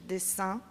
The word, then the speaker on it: dessin: In French, we distinguish dessin et dessin. The pronunciation is absolutely the same.